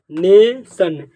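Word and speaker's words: nation: ठीक नेशन क्या पढ़ा जाएगा नेशन जो ओ है इस अ पढ़ा जा रहा है ठीक नेशन नेशन पढ़ा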